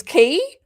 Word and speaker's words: quay: I remember going to broadcasting school in 2000 and I found out that Quay is key because I come from a country town, you know, put it in the key.